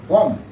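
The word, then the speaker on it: comb: यह ग्रामर का नियम है, यह होता है उच्चारण इसका टॉम। टॉम मीन्स होता है समाधि। नेक्स्ट कॉम, इससे तो आप परिचित होंगे।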